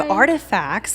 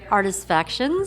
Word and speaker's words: Artifactions: So we're here with my all-time favorite photographer, Tracy Saunders of Artifacts. Am I saying it right? Artifactions.